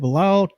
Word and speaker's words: Bilal: Bilal Coulibaly? Bilal, yeah, Coulibaly.